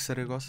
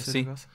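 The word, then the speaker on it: Saragoça: Era o Frederico Saragça, acho estou a dizer bem o nome. O que é que disseste? Frederico Saragossa. Exatamente. É o a pronúncia do último nome pode ser duvidosa.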